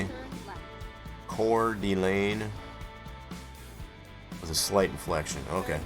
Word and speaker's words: Coeur d'Alene: Coeur d'Alene.